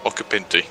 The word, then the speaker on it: Occhipinti: Occhipinti. Guillermo Occhipinti. There we go. The Italian way.